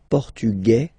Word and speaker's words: portugais: Masculine, portugais, you don't pronounce the S.